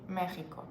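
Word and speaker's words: México: is the same like in English exp Taxi Mexico yeah it's Mexico and mexicos and God forbid you pronounce it like Mexico or Mexicanos in front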